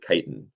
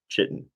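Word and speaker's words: chitin: outer cuticle made of layers of kiten a complex carbohydrate which is definitely not pronounced chitten fibrous proteins and Incorporated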